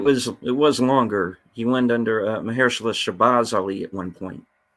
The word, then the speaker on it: Mahershala: All right, Marashala Ali. Okay, in MCU Vampire Adventure Blade. No, is it how do you spell it? Mahershala. Mahershala. That's it. It's Mahershala. Mahershala.